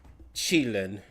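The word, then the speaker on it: Qilin: It's pronounced chillin.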